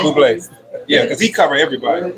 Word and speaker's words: Bublé: Yeah, it's pronounced Bublé.